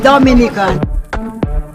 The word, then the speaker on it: Dominica: so okay boom we call it dominica yes the nature i love the caribbean it's rum punch time we call it dominican it is spelled d-o-m-i-n-i-c-a it is not dominican republic it